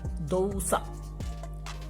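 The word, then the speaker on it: 動作: So if you are writing these together, these would be pronounced as dosa, which means action.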